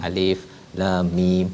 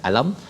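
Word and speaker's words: الم: Alif lam mim bukan alam, tapi waktu jumpa surah Al-Fil kena baca alam lah.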